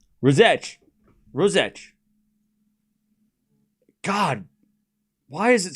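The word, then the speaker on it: Ružić: The Z is like C in V. So, it's so it's r It's a soft C. Ros. Ross sounds ros. So it was the I that I was fucking up. So it's it's like rosette. It's not itch, it's so it's messing up the last bit.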